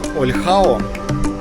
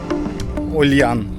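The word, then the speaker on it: Olhão: Название города тяжело запомнить данного, потому что пишется оно как Ольхао, а читается как Ольян.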